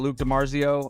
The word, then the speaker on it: Luc DiMarzio: uh Luke tomorrow at Luke DiMarzio I'm the same on Instagram and yeah my name is spelled weird that's l-u-c DiMarzio like it sounds d-i-m-a-r-z-i-o and uh yeah